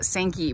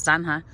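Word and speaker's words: zanja: on redlands pronunciations because i have heard people call this ditch basically the sankey but it's spelled z-a-n-j-a which if you are speaking in proper spanish is sanja so apparently either way is acceptable i don't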